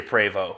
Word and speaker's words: Prevost: And that is the proper way to say Prevost.